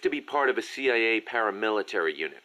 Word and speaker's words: CIA: Around here they say La CIA instead of CIA, huh? Nothing strange about it. That's how it's pronounced when you read it in Spanish.